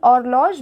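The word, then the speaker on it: horloge: a clock now yun or log means a clock and h is silent here or log a bottle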